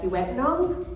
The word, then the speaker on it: Kiiwetinoong: and for that so a little bit about Vietnam that is how you pronounce it and it is one of the